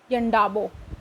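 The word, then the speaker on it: Yandabo: February 1826 with the treaty of यंडाबो यांडो ये भी बोल सकते हैं ठीक है एक ट्रीटी हुई यंडाबो याबो ये भी बोल दो भी दोनों उच्चारण हो सकते हैं देख लीजिएगा द गवर्नमेंट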